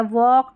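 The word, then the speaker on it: walk: तो याद रख लें एल के यहां पर देखिए एल के में एल साइलेंट रहता है। वॉक, टॉक, चौक।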